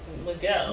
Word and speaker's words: Miguel: Lindy and Miguel.